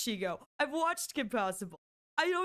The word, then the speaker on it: Shego: Yeah, her shiago clip and I realized that's not how it's pronounced. That's not how it's pronounced. But I'm every I'm going to be real here. I know it's Shego.